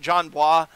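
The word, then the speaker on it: Jon Bois: the video on him John blah or its how you pronounce that John wah dude he makes really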